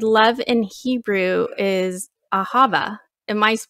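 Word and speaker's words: אהבה: started and you said love in hebrew is ahava am i pronouncing that right that's right okay and i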